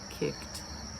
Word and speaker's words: kicked: Sometimes it might help you if you imagine that the E is not there in that ED past tense sound. And maybe that will help you to make it just that one syllable.